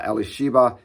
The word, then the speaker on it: Elisheva: name of aaron's wife elisheva uh elisheva is how it's pronounced in hebrew elizabeth is how it